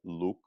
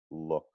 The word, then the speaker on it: look: your vowel in the word look, it can be slightly more relaxed. When we have these vowels in English, they're really less pure than they are in other languages. So it's not going to be like look, but it's going to be like Yeah. look.